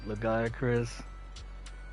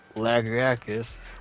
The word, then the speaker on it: Lagiacrus: gotten, which were Steregios, Lagiacrus, or Lagriacus, as some people pronounce it, and Mitsune.